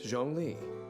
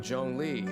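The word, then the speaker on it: Zhongli: them all and yet the mysterious funeral consultant jeong lee seems to know them like the back of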